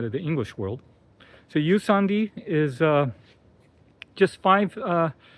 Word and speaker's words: Jusandi: room boutique hotel called Yandi spelled J U S A N D I but pronounced the J is pronounced as Y um which is common place uh outside of the English world. So Yandi is uh just five uh individual villas.